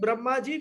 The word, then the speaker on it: Brahma: And when we are referring to the four-headed Brahmaji, we say Brahma, the long A.